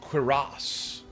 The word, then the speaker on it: cuirass: By the way, I learned that this is pronounced cuirass.